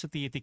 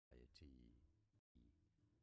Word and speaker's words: satiety: There are two correct pronunciations. Nice. Here are more video satiety as satiety.